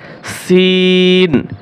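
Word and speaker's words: سين: সিন, সিন এটাও তিন আলিফ টান হবে। কয় আলিফ টান হবে? তিন আলিফ টান হবে। পাতলা করে উচ্চারণ করবেন। সিন, সিন, সিন, সিন। শিন, শিন এটা হচ্ছে সি, আর হচ্ছে শি।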